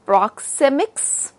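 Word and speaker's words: proxemics: third one proximic communication so this word little you know is little difficult to pronounce so we can pronounce it as proximics right so you can see I have you know specifically written on the slide proximix or proximix so proximix or proximix this is how we pronounce this word so proximix is basically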